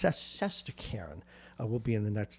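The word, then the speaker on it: Shesterkin: And I know I have to pronounce this. It's Saskarin will be in the nets tonight.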